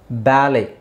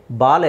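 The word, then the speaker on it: ballet: okay now ಲೆಟ್ಸ್ ಸಿ ಬ್ಯಾಲೆ ಇಲ್ಲಿ ಟಿ is silent T ನ silent ಮಾಡಬೇಕು ಬ್ಯಾಲೆ ಬಾಲೆ ಅಲ್ಲ ಬ್ಯಾಲೆ ಬ್ಯಾಲೆ ಬ್ಯಾಲೆ ಹಾಗೆ ರಾಪೋ ರಾಪೋ ಇಲ್ಲಿ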